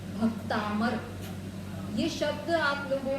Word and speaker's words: भक्तामर: शब्द पहला ही शब्द है भक्तामर। यह शब्द आप लोगों को बोलना आना चाहिए विशेष रूप से। बहुत से लोग भक्तांबर शब्द की जगह भक्तांबर शब्द बोलते हैं और